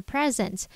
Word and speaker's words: present: A 可以念作 present 或者是 present。